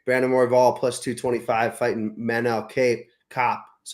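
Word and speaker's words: Manel Kape: Last card of the year, Brandon Morval plus 225 fighting Manel Cape Cop.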